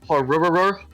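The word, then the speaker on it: ホロロホルル: Malfestio's Japanese name is pronounced Horururu or Ruru. So I like made a joke that like what makes a Malfestio laugh, and then they said that. Halulu? Horururu. Halulu? Hororohoru. That's how you pronounce it.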